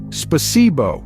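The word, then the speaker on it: Спасибо: Spasibo is the Russian word for thank you, pronounced as spasibo.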